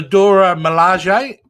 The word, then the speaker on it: Dora Milaje: And he dropped to the second one, the Dora Milaje, and that's how you pronounce it.